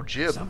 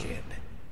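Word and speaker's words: Jiub: intently I am jib oh jib I've been saying it wrong jib others call me jib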